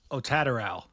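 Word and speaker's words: Otataral: It's like Ratata from Pokemon, right? It's like Otatal. Otateral.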